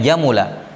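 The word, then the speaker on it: جمل: fiil madinya apa jamula jelas ya karena dia bawaan maka cara bacanya jamula apa mudarinnya yajmulu yafulu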